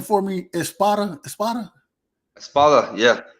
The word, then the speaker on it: Espada: Espada.